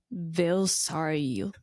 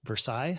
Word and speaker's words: Versailles: of The Rose of Vario. Versailles. Versaille. Huh? Just Versailles. Versailles. Cuz it's pronounced differently. Japanese. I only know the Japanese pronunciation. Yeah. I mean, the Japanese pronunciation is based on the French pronunciation.